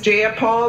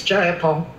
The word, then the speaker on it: Jayapal: you agree with miss j paul that there was no takeover it was just giant paul if you're gonna say my name please say it right it's jayapal jayapal do you would